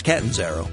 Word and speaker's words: Catanzaro: Now, Catanzaro, is it Catanzaro? Catanzaro? It's Catanzaro.